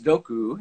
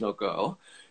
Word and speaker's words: Disznókő: the pronunciation so uh first of all these states noku there's uh there's two little accents that they'll at this last o so that's pronounced like a u so this doku and not this noko is the pronunciation of the estate and then the region